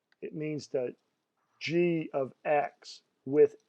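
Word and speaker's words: g(x): this this G parenthesis X close parenthesis is pronounced G of X and if I said let's look what G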